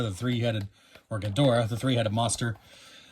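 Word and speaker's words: Ghidorah: gadora the three-headed monster a name I pronounce a little differently every time I just want to say gadora but I know that's a very American way to say it gedra perhaps illustration by Mona Mona robot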